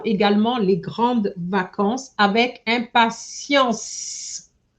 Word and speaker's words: impatience: So, j'attends également les grandes vacances avec impatience. I didn't hear the S. Impatience.